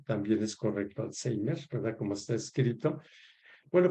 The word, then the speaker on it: Alzheimer: ¿Por qué se llama Alzheimer y por qué es correcto pronunciar Alzheimer y no Alzheimer? También es correcto Alzheimer, ¿verdad? Como está escrito. Bueno, pues porque es un apellido alemán, ¿sí?